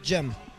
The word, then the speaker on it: Jem: I pronounce it Gem. Just Jem.